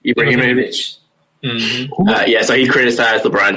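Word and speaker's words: Ibrahimović: How do you pronounce his last name? Ibrahimovic.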